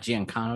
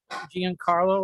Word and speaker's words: Giancarlo: he was oh uh was it no not giancano yeah giancano that's giancarlo or something like that and he's the next